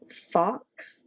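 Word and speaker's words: Fawkes: name of it wrong it's like Fox the Phoenix it it's sounds like a fox but it's spelled totally different than Fox so I don't know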